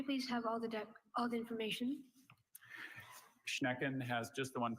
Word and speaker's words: Schnecken: Schnecken has just the one pronunciation.